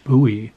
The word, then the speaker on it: Bowie: unlike david bowie's name in maryland you pronounce this word buoy because it's the name of a town in maryland uh sort of halfway